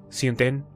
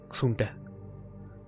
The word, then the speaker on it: Xunta: Siunten era la versión deformada y eslava que tenía Princhenko de pronunciar Xunta.